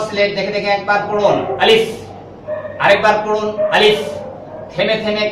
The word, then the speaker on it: আলিফ: সুন্দর নাম আছে আবার বলা শেষ আপনাদের শুরু আলিফ আলিফ এই হরফটি উচ্চারণের স্থান হচ্ছে নিচের ঠোঁটের পেয়ার সামনের উপরে